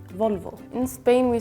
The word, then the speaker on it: Volvo: Maybe the V you pronounce differently, like it's kind of a B. Yeah, it sounds B and V. In Spanish, they sound same.